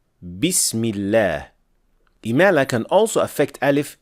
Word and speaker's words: بسم الله: The second thing is to make sure that you're not applying imala on kasra for the word bism. So, we do not say Bismillah, but we say Bismillah.